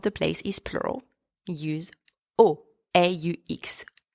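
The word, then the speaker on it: aux: place is plural use o a x o the x is silent at the End by the way for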